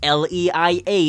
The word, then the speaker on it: Leia: and R2 hyen D2 princess l e i a is pronounced Leia Han Solo should never